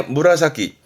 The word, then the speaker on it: 紫: 이게 무라사키, 보라색의 무라사키입니다. 이렇게 쓰면 자색이 되죠. 그렇죠. 뭐 자색 고구마 하는 그 자색입니다. 근데 발음은 무라사키이로, 무라사키이로, 보라색이 됩니다.